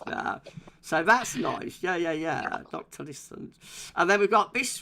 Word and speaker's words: noctilucent: Say that again, because I can never pronounce that. Noctilucent.